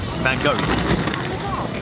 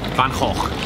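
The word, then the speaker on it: Van Gogh: the van Hoek museum banker no van't hoff you pronounce it from the throat then huh let's go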